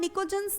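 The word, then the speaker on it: pnictogens: P-N-I-C-O-G-E-N. Okay, and here the P is silent, so I am pronouncing it as nicogens. Why they are called nicogens, nitrogen family?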